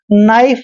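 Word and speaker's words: knife: आई एफ ई यहां पर हम इसको हमेशा नाइफ पढ़ते हैं कभी भी नाइफ नहीं पढ़ना है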